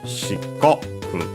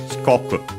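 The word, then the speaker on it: 四国: shikoku shikoku uh we'll check the accent first and foremost okay on the co so shikoku shikoku it's the smallest of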